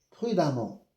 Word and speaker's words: prudemment: Même si c'est écrit E, je prononce A comme ici, fréquemment, prudemment, évidemment, même si c'est écrit E, je prononce A.